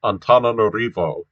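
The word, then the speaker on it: Antananarivo: i know for instance that that this is pronounced on antananorivo and uh the language is pronounced malagasy you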